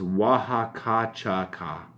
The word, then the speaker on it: Oaxaca Choca: what it says oh it says how it's pronounced so it's wah ha ha cha cha is our Imperial Mexicans